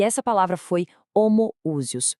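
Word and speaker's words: homoousios: E essa palavra foi homoúsios. Pronúncia clara.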